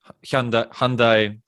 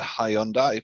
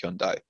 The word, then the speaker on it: Hyundai: So Rimac together with Hyundai. And I have always said Hyundai, but I think it's properly pronounced Hyundai. In Croatia, we pronounce it Hyundai.